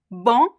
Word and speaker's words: bom: There's no m sound in the word bom. The o becomes nasal, and depending on the accent, it could be bon, just like one single on sound, or we could also have like a small diphthong here, like on, like o, but with the nasal sound. So bon, bon, bon.